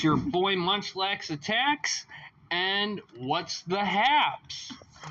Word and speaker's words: Munchlax: right here okay and the word attacks kind of rhymes with Munchlax it sure does yeah